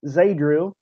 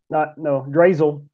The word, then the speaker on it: Drazel: Next week, we will have Tim Zadrill. Drazel. Sorry, I mispronounced that.